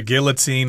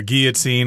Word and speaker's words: guillotine: Of course, guillotine or guillotine, I guess you can pronounce it both ways, is a device to kill somebody, to execute somebody by cutting their head off.